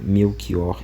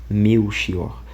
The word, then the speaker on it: Melchior: Assim se explica que a forma meu xior se pronuncia com k, meu kior no outras línguas, por exemplo, em inglês. Então, por que que o certo seria meu kior e não me xior?